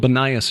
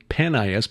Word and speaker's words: Banias: Judd Burton did his doctoral dissertation on the religious history of Banias, called Banias now because of the Arabic pronunciation of the P vowel, formerly Panias because of the Greek god Pan.